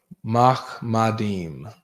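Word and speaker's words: מחמדים: Mahmadim is how to say it in the Hebrew.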